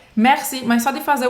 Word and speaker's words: merci: Merci não é Merci o som Ele é bem abertão Merci Mercy Mercy e esse